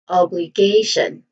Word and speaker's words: obligation: Now the primary stress here is on the third syllable K. So we say it as obligation.